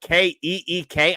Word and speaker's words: Kiké: My thing with Kicktober is, can we spell it Keek? I know it's not how his name is spelled, but that's how it's pronounced.